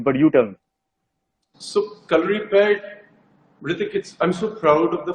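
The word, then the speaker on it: Kalaripayattu: it but you but you tell me so color repaired i'm so proud of the fact that you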